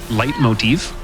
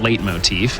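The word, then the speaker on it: leitmotif: a musical concept called light Motif uh not late Motif as I have unfortunately uh found out is not the cor correct pronunciation so shout outs to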